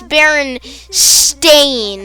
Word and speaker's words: Berenstain: barons the berenstein bears the baron stain bears which is you know the right pronunciation i i just for some reason i always called them but by that i didn't do this whole berenstain no it's it's barren stain and then i just